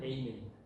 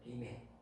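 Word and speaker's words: Amen: 다르죠 할렐루야는 발음도 똑같습니다 아멘이 영어로는 에이멘 에멘 에이은 동의한다 그 말입니다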